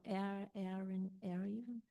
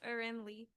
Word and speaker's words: Arin Lee: Oh, Aaron Ar. Um, I'm sorry if I uh it's pronounced Arin Lee. Arin.